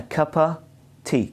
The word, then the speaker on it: cup of tea: cup of tea but it's pronounced as a cup of tea a kappa t kappa got it kappa t so a cup